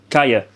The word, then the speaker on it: calle: And then it's also if there's like a double L, it's actually a yeah. So like street is kaya, but it's spelled CALLE.